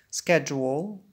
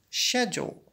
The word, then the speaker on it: schedule: Words, more and more words, vocabulary, more about pronunciation, schedule, American English, repeat, or schedule, British English.